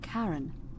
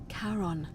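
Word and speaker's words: Charon: it's just as you described it only your pronunciation is a little off the name you heard wasn't Karen it was SE h a r o n as in karon the Fairman of the Dead karon who in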